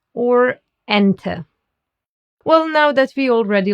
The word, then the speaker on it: Ente: The letter E is called E in German because it's pronounced like the E in bed or select. For example, in gehen or ente.